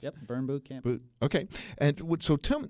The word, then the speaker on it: Burn Bootcamp: Is that how it's pronounced? Yep, Burn Bootcamp.